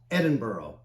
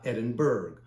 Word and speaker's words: Edinburgh: to pronounce the name it's pronounced Edinboro not Edinburgh the locals really appreciate